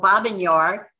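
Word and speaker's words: Babyn Yar: He went back to Kyiv, learned that his mother and his family had been murdered at Babi Yar, Russian pronunciation, or Babin Yar, Ukrainian pronunciation, and he realized he needed to go into hiding.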